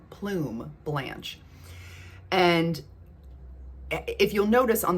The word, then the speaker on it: Plume Blanche: I want to get my hands on Plume Blanche, I think is how it's pronounced. Not Plum, but I think it's Plume Blanche.